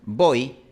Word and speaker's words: voy: Cuando escuchamos voy, nosotros estamos escuchando una O más una I.